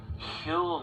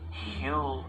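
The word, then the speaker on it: Shiúil: An example would be Hul me awalya. I walked home. Hul me awalya. So you can clearly hear there that the SH is silent in that sentence.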